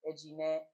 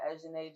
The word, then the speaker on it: Ejine: Technically, my name is actually pronounced Ejine, but I actually go by Ejine just to make it